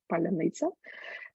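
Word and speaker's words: паляниця: Ukrainian homebake uh from vegan bread which is pronounced in Ukrainian as palaniza and in the what time it has became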